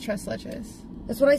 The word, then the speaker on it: tres leches: It's pronounced tres leches.